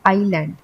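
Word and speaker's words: island: ये सीएमओ हो गया फिर आइसलैंड नहीं बोलते आयरलैंड बोलते हैं हम क्योंकि इसमें आई साइलेंट है तो हम बोलेंगे आईलैंड इस शब्द में डाउट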